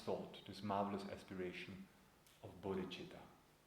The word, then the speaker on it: bodhicitta: This marvelous thought, this marvelous aspiration of bodhicitta. Bodhicitta is a Sanskrit word, has two syllables. First syllable is bodhi, which means enlightened, fully awakened.